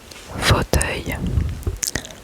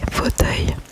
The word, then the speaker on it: fauteuil: Fauteuil.